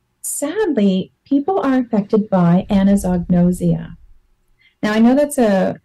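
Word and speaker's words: anosognosia: actually affected by this anazognosia and I like to say it slowly to spell it out Anno Zog no Zia so this is something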